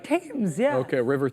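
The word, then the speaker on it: Thames: like T oh boy the luno the river tames t h m yeah but it's pronounced like tames yeah okay River tames like it spell th shout out to Adam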